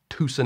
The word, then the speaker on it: Tucson: I was just like, Tucson. I know you don't pronounce the C. Turns out you're supposed to put an accent on both the tu and the son.